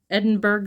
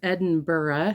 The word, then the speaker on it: Edinburgh: I think if you're from United States, you see the URGH at the end and you think Pittsburgh. So I said Edinburg linen. So she very politely said that it's Edinburgh, so hopefully that's right, or I'm still saying it wrong.